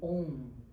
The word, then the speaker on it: Om: A pronúncia do OM é muito importante. O o ele vem da garganta passando pelas partes da fala e terminando nos lábios com o M, mas é só o som do M.